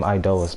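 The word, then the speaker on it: Iedolas: Yeah, you pronounce his name Idolus, by the way. You put a lot of emphasis on I and then Dolus.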